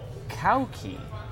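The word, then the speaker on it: Cauchi: Her name is it's Maltese and it's pronounced Kauki.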